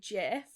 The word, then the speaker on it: GIF: so we'll go with gif i also say gif and i don't plan on changing it but the proper pronunciation is actually jeff i know i was mindful when i found